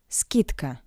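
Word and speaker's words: скидка: skitka. The voiced consonant D in front of the voiceless consonant C sounds like its pair consonant t d t skitka tk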